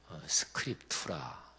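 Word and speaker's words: scriptura: 지금 믿음으로 그리고 오직 성경으로 성경이 l 라틴어로 스크립트 라 이렇게 발음하는 데 그래서 쏠라 스크립터 라 또 스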